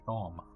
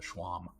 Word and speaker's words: shawm: And it's a shawm, not a schwam.